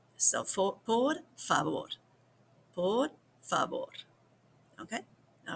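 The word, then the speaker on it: por favor: So, a lot of people pronounce the V like a B, but don't overdo that either. So, poor fab poor.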